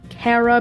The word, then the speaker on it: Chara: debate on how to pronounce it but I pronounce it Kara because I'm pretty sure that's the correct pronunciation